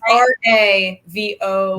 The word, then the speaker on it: Ravonna: So it's Ravona.